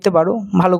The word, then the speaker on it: Prévost: যদি তুমি বল যে প্রিভোস্টে কি হবে প্রিভো রিয়াকশনে বা প্রিভোস্ট বলবো না টিটা সাইলেন্ট থাকবে প্রিভো রিয়াকশনে সেটা হল